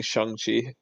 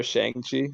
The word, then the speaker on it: Shang-Chi: actually, I actually don't even like saying Shang-Chi. I actually prefer Shang-Chi, but then now that I say Shang-Chi, it sounds really cringe.